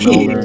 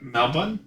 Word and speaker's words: Melbourne: Melbourne? Melbourne. You're supposed to say it really weird. It's Melbourne. No, you're supposed to Melbourne. like drop one of the syllables.